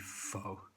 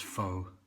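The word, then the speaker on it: phở: So today is going to be Covid-19 Beef Pho, which I'm going to pronounce pho, but I think it's supposed to be pho.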